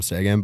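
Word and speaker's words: Seguin: injured tyler's segment sega segay segay is it not segay i think that's a second english speaking people call him sagan but that's because you're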